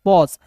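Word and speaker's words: pause: फिर देखिए यहाँ पे पी, पी का प, ए यू का जब भी रहेगा तो इसका उच्चारण औ के रूप में, एस ई का उच्चारण होता है दोस्तों ज के रूप में, पॉज।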